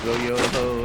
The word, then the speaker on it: Schmo-yo-ho: Joe Blow Schmo or whatever isn't going to be able to Schmo-yo-ho, either. Who the fuck is Joe Then if they know Blow? we're here. Schmo yo ho, accent on the yo.